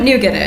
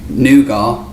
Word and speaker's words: nougat: no no okay well we would say noua CU it's a French word and I'm definitely siding on our pronunciation being more accurate to the origins of that word but today we can